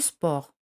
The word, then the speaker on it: sport: mal à faire du sport con no se pronuncia al final no se